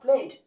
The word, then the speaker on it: played: If it is ended with Y consonant letter, you pronounce as D sound.